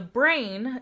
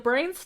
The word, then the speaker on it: brane: okay and then the brain is the next type of Multiverse so the brain Multiverse and it's spelled b-r-a-n-e not brain is in like brains what to say that's